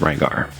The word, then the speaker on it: Rygar: his name is ligar if you're familiar at all with Japanese um ryar and ligar would be pronounced the same by a Japanese person and so in the